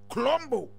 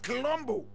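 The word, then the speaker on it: Kiluanji: So he was Angola Colombo. Angola Colombo. Angola is spelled N-G-O-L-A. Colombo is K-I-L-O-M-B-O.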